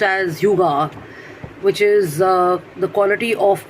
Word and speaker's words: Hygge: So Hygge is pronounced as Yuga, which is the quality of presence of an